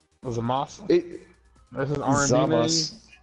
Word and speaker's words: Zamasu: No, it's all spelled like that, but his name is pronounced Zamas. Zamas.